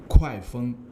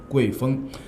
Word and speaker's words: 郐风: Hello everyone, today's poem is Gui Feng, Fei Feng, a Gui Wind from the Book of Songs. Someone will pronounce this wind as Kuai Feng.